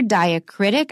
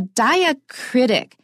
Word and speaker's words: diacritic: we have to pronounce it as a separate syllable, Charlotte Bronte. Now, the name of this particular diacritic, I'll mention it. You don't have to remember this, but it might be interesting for some of you. A diacritic is just a little symbol that we add